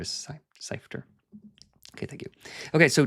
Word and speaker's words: Seifter: Like it's not that it's a hard name to say or to pronounce, but I wasn't sure if it was this way or that way. Seifert or Seifter.